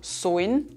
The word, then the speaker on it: sollen: Something special happens here in our dialect, namely we vocalize the "l". "l" becomes an "oi". This also happens, for example, with "sollen" which becomes "soin" or "kalt" which becomes "koid".